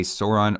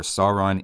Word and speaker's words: Sauron: comfortable using them interchangeably so if you want to say Sauron or Sauron you can at least point to examples where J.R.R Tolkien said it in that way I don't think you can go wrong with either though there is technically better textual evidence for Sauron as they say it in the movies and TV show hopefully that helps